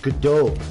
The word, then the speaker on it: Gadot: No, it's pronounced Gadot. The T is silent.